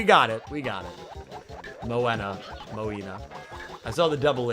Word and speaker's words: Moana: Moina. Beautiful. Beautiful. Love it. Well, that's classic me mispronouncing names. Uh, but we we we got it. We got it. Moana.